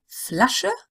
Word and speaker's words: Flasche: Flasche, that's the short E at the end. Meer, Fenster und Meer.